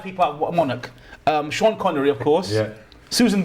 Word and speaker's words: Sean: And it's like, no, it's pronounced Sean.